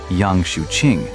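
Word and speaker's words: Yang Xiuqing: In the chaos, a destitute charcoal burner named Yang Shuing, pronounced Yang Shuing, a man who was illiterate but possessed extraordinary cunning, suddenly collapsed to the ground, foaming at the mouth.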